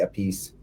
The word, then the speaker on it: Appice: And Bonham was listening to Ginger Baker and Carmine Appice, however you pronounce it. I say Appice.